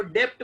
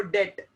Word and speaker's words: debt: Liability को डेट कहते हैं, डेट, DEBT, इसको डेप्ट मत पढ़ना, इसको डेट, बी साइलेंट, डेट।